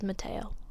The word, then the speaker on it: Mattheo: We're gonna pronounce it as Mattheo.